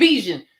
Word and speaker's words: Bijan: It's Bijan. Oh my gosh, could y'all stop saying Beijing? It's Beijing. Beijing is a country. It's a city. Bijan. It's spelled Bijen. But it got a Chinese lady on it, and it's Beijing. Give me that Beijing, number 59, super black. Every time I feel like, no, it's Bijan.